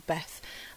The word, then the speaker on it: bet: are getting I'm getting the Hebrew letter B because it's pronounced bet or Beth um so I wanted